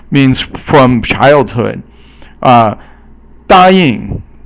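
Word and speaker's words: 答应: 答应. So 答 is first tone, and 应 is actually 轻声 or silent tone.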